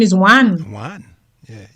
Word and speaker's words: Juan: The person's name is Juan. Juan. Yeah. J is H. It's pronounced H.